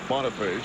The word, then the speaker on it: Boniface: And that's how he pronounces it, by the way. Even though it's French, it's Boniface. He says Boniface.